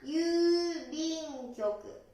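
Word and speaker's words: 郵便局: 発音は郵便局。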